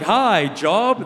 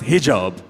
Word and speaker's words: hijab: She hops off a boat, she's like, hi, job. They're like, actually, it's pronounced hijab.